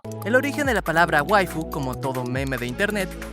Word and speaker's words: waifu: un origen simpático, pues esta no es más que la palabra anglosajona wife, cuyo significado es esposa, pronunciada con acento japonés. Si quieres, haz la prueba con el traductor escribiendo wife y reproduciéndola con la voz japonesa. Verás que la linda voz dirá waifu, y no precisamente porque sea otaku. La pronunciación japonesa hace que la palabra inglesa tenga esa fonética.